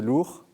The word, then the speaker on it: Lours: hommage quand même alors l'ours lourd alors l'ours comme en auvergne bon et ce sont